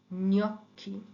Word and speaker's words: gnocchi: যেমন GNO, GNO, GNO, GNA, GN এর সাউন্ডটা হয় ঞ। এটা একটা যেন দন্তন্যটা একেবারে তালুর সাথে লাগিয়ে কিছুক্ষণ তারপর এটা ছাড়তে হবে, নিয়ম। ওকে, নিয়ম, gnocchi, gnocchi, legno, legno, Spagna, lavagna, gnomo, gnocchi, legno, Spagna, lavagna।